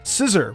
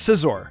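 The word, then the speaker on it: Scizor: Scissor was how I pronounced Scissor.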